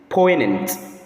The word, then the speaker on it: poignant: note of it that the letter G there is silent in the pronunciation of that word. The correct pronunciation is poant.